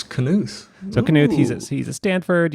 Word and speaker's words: Knuth: to mention Donald Knuth as I say his name Knuth Knuth yes as says Wikipedia I always thought it was new that I was going new for years and then I looked up his canoes so Knuth he's at